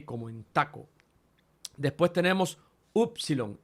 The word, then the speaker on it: upsilon: en Taco después tenemos upsilon y ojo aquí también porque van a ver algunos vídeos en YouTube que dicen ipsilon y eso corresponde a otra escuela y a otro tipo